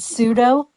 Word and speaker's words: pseudo: The P is silent.